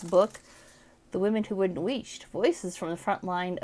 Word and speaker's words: Wheesht: I think it's actually pronounced Wheesht.